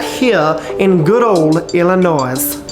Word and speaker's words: Illinois: brownie was invented right here in good old illinois it's pronounced illinois by the way not illinois the highly acclaimed